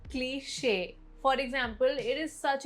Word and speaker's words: cliche: Word 27, cliche. Not cliche, cliche.